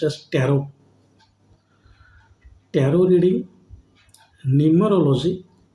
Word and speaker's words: tarot: second now you you people might be watching tarot so it is t r r o t but pronounced as tarot tarot reading numerology P Myster and pH reading